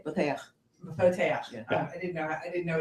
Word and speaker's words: Boteach: I came in on Facebook, but I never pronounced the guy's name right, but Shmuley Botich, is that his name? Boteach.